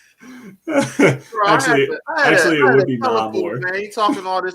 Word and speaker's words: Namor: Mexican culture and everything, if you're going to pronounce it in Spanish, it would still be Namor.